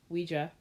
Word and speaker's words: Ouija: It's Ouija board. Ouija. It's how you pronounce. It's Ouija, which is actually translates in French to yes, no, yes and no.